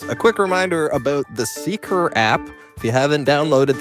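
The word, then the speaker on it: Seekr: It's spelled Seeker, S-E-E-K-R, Seeker.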